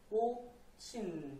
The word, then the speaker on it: 꽃힌: 지읒이랑 히읗이랑 부딪혀서 거센 소리, 시읒으로 변했죠. 거센 소리 되기가 일어난 겁니다. 꽃친 이렇게요.